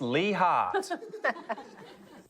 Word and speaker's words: Leigh Hart: Up first, his name rhymes with tree bark. It's Lee Hart.